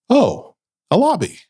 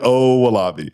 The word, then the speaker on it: Owolabi: You look around and you're like, "Oh, a lobby." That's how you say my name. I'm O Wabi. So, you'll never forget it. That's an easy way to understand it.